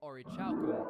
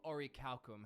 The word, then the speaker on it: orichalcum: Another tower is known as the Orichauk Tower, and it was likely built from Orichaucum, or Orichalcum, however you would like to pronounce it.